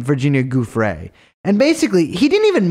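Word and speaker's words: Giuffre: he's trying to discredit virginia jeffrey who we pronounce her name virginia goof ray and basically he didn't even mention himself uh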